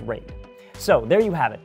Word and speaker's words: RAID: And yes, I know it's pronounced RAID.